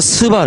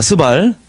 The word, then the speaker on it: 스발: 집안들이 사는 데가 어디냐면 메사에서 스발 그래요이 발음 조심하셔야 됩니다 이거 메사에서 스바 아 스발 예 자 학자들이 이렇게